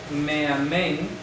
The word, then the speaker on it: me'aman: a por aquí neeman para que vayan escribiendo la pronunciación neeman aquí decimos me Amén Qué significa entrenador entrenador